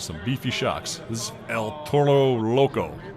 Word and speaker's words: El Toro Loco: This is El Toro Loco. You're supposed to roll your R there.